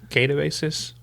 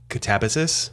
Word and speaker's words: Katabasis: Catabasis katabasis catabsis catabsis catabsis there's a few different pronunciations of this but it is